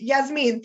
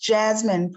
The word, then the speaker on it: Yasmin: Yes, Yasmin, thank you. Go ahead. It's pronounced Jasmine, Professor.